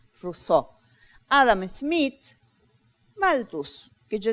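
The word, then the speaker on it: Rousseau: un puse una p es ruso r r no vayan a escribir se escribe r y se pronuncia rous Adam Smith maltus que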